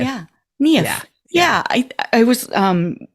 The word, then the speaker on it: Niamh: yeah think of your knee and say if KN if yeah KN if yeah I I was um the first time